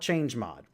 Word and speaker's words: chmod: a command called chmod, also sometimes referred to as chmod or chmod. There's different ways to pronounce it in the community. I'm going to call it chmod.